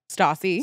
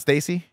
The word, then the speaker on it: Stassi: you say her name stassi Saucy not Stacy no it's like Natasha oh stasio she just